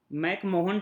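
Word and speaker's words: McMahon: नाम है मैन line ठीक है मेला इन मैक मोहन टाइप की स्पेलिंग है पर डिस्को मैकमोहन लाइन बोलते हैं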